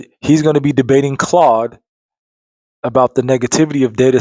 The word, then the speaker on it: Claude: My name is Claude, pronounced like Claude, rhymes with rod.